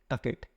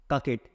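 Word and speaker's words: coquette: इसका प्रोनाउंसिएशन थोड़ा याद रखिएगा, कभी कभी एग्जाम में पूछ लिया जाता है, कभी इसकी स्पेलिंग आ जाती है कभी कभी कि जो ककेट है, या ये मिस स्पेल्ड पर दिया जाता है कि इसकी स्पेलिंग बताइए कि ये गलत लिखा हुआ है या सही लिखा हुआ है। तो इसको याद रखेंगे, और इसका जो प्रोनाउंसिएशन है वो ककेट होगा।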